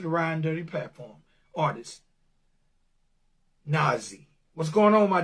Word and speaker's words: Nahzzy: Is it Nahzzy? Yes, it is. You did pronounce it correctly.